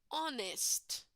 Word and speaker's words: honest: honest person honest here the H does not have a sound right guys so in example number one hair hairdresser in example number two honest honest person the H is silent right guys so in